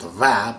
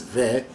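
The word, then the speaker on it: و: Ke means that, jahan means universe, ve, which has to be called va, but in poetry I'm using it here to pronounce it as ve, it means simply and.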